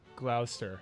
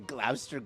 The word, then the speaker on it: Gloucester: Gloucester globe you're laughing I don't think it's pronounced Gloucester the Glouster glove sounds like Shakespeare's glow